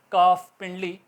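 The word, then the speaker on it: calf: तो ल साइलेंट रहेगा काफिंडली सी ए ल एफ बोलने में कफ होगा हाफ आधा अल ठीक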